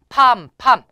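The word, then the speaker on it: palm: 팍 자인 5까지 보세요 팜팜 판판 손바닥이 에요 역시 여기서 l 등 발음이 안 나요 그래서 팜 입니다 팜 자판 팥 먼로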